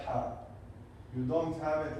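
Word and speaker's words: ح: It comes from here. And you have to take air with the word when you pronounce it.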